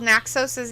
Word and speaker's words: Naxos: I butchered the spelling. Actually, no, you spelled Naxos' name perfect.